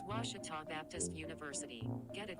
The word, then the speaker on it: Ouachita: at a baptist university back in texas everybody pronounces it wichita but really it's ouachita washington washington how would you pronounce it it's washita baptist university get it right it's washi talk